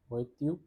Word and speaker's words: voiture: Pronunciation is voiture.